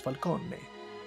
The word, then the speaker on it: Falcone: properly as gigante but when they say falcone they don't say falcon they say falcone and falone and it's falcone falcone or maroni which they